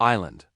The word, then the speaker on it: island: How about island? The S is completely silent.